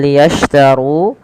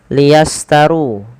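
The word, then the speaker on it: ليشتروا: Shin pada lafal liyashtaru, ya, hati-hati dalam melafalkannya, jangan sampai terlafadzkan dengan liyastaru. Di sini harus berbunyi dengan shin. Ash, bukan as tapi ash.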